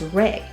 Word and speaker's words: Ra: Some English-speaking scholars pronounce rin as raw, while others pronounce it as reay.